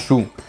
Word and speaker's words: Zhou: Puis un petit peu plus tard, entre l'an -1027 et -256, pendant la dynastie Shu, je sais ça s'écrit Zhou mais ça se prononce Shu, les nobles de la